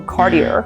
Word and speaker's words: Cartier: In China, we call it Cartier, but it's called Cartier. So remember, it's not Cartier or Cartier, it's Cartier. And that's because the IER at the end of a word in French is pronounced like EA. So you don't roll the R there, it's Cartier.